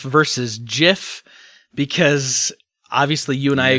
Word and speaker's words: GIF: had kind of a you know a a gif it was going through and it was Wonder